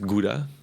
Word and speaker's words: Gouda: I mean, Gouda cheese, or how you pronounce it, Gouda.